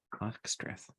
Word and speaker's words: Ogstreth: Ogstreth. It's pronounced just like it's spelled. Okay.